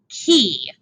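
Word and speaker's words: chi: how it's pronounced nataliano it is pronounced as the thing that opens the door key why we pronounce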